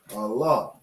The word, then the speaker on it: Allah: And then you have this connector pointing up. It's letting you to know to fully pronounce the la. Okay? So you have Allah.